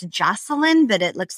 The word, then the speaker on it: Joshilyn: Well, my name is spelled weirdly. It's Joshilyn, but it looks like Joshilyn.